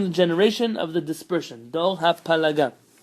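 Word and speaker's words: דור הפלגה: Dor hapalaga. The Ashkenazim pronounce this as Dor haflaga.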